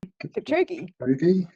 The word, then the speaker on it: Kipchoge: Kipchoge.